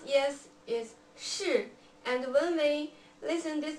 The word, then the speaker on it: 是: And we pronounce yes is 是.